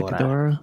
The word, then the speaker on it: Ghidorah: How you pronounce that? Ghidorah.